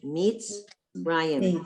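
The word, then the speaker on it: מצרים: That man with Utsadi, that's the syllable, mitz. It's not mitzah, it's mitz. Right. Mitzrayim. So at the end of a syllable, that shva it's silent.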